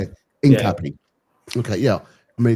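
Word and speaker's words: Hincapié: Hincapi.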